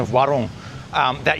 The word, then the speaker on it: warung: You don't have to roll the r. If you don't want to roll the r, just like warung. Warung, yeah? If you say warung, I mean, you're 90% of the way there.